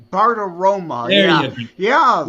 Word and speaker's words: Bartiromo: Joseph, if you know who I'm talking about, Bartolomeo? Bartiromo.